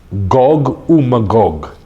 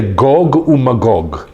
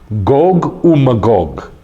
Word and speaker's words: Gog: year of judgment with gogog say goog yeah not Gog and Magog goog that's how it's said in Hebrew anybody remember how many